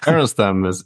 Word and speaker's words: Harenstam: I'm joined today by Harenstam. Harenstam. How do I pronounce it? Harenstam is good, but yeah, it's a tricky one.